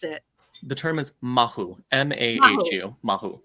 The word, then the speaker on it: mahu: know can you say the word I always mispronounce it the term is mahu m-a-h-u mahu right right and there is a